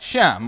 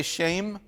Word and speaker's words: Shem: looking at all right sham or um yeah and and by the way you might hear me say shame sometimes uh because technically that's how you pronounce it shame but shame just sounds